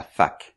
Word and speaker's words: fac: On appelle ça aussi la fac. Oui, je sais, ça n'a pas un son très agréable pour les anglophones, mais ça s'écrit F-A-C.